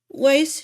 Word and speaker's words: Weiss: It should be, Vice. but they pronounce it Weiss on the show, and it bothers me. I always slip Should be up and call her Vice, but also. it's Weiss. Also, since she is female,